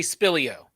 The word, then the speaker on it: Spilio: Spilio. You can just say Spilio.